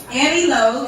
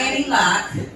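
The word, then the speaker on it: Aniloc: Annie Low, not Annie Lock. It is spelled L Oc. It's Annie without the E. So, A N I L O C.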